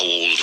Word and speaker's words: old: Pronounce the D in old. How old were you?